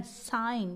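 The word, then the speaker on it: sign: कब साइलेंट होता है जीबी साइलेंट होता है जब भी इसके आगे एन ए जाए ठीक है जब भी जी के आगे एन जाए तो जी साइलेंट हो जाता है घी का कोई प्रोनाउंस नहीं होता है कोई इसका प्रोनाउन सेशन हम नहीं बोलते जैसे ही इसको हम पत्ते एस आई जी एन साइन क्या पढ़ते हैं साइन जी को साउंड जी नहीं निकलता है इसको हम साइन ऐसे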